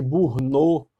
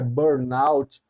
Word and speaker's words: Burnout: essa síndrome de bournout algumas pessoas falam de Burnout né no PSD pronúncia equivocada porque a um certo afrancesamento da pronúncia mas na verdade eu tenho é bornalte que em inglês seria